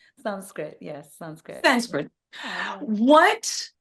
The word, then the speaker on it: Sanskrit: Am I pronouncing that correctly? Sanskrit, yes, Sanskrit.